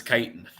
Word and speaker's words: chitin: Chitin or chitin? I've heard it both ways. Have you legitimately heard it both ways? Let me see here. Chitin pronunciations. The real question is the SGC been taken over? Or, because you would imagine that if they dialed Earth, that they would go to Earth. Google says it's chitin.